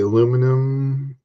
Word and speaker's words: aluminum: I got I had a aluminum alloy, aluminium, whatever you guys want to pronounce it, alloy kind of one.